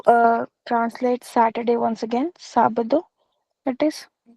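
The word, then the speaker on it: sábado: Sabadu that is.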